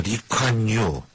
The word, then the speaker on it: 리콴유: 리콴유. 리콴유. 우리는 옛날에 이광유라고 이렇게. 맞아요. 네. 옛날엔 옛날에 이광유라다가 이광유 총리. 2000년대 이후 그쪽 발음을 따라하는데 리콴유라고 이제 얘기를 하는데.